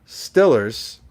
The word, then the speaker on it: Steelers: the way it's said obviously steelers is stillers right downtown's downtown southside celebrity